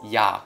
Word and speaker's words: ㅑ: learn them right now the first vowel is ah the second vowel is yeah yes it looks really similar to ah there's one extra stroke and it sounds similar as well one thing you can